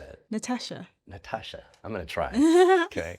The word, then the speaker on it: Natasha: Well, we can't emphasize the T in England because it doesn't make sense, but Americans can because it makes sense to say Natasha as opposed to Natasha.